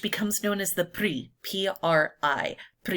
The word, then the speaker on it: PRI: known as the PRI, P-R-I. PRI. You say it like it's a word, not an acronym in Mexican politics.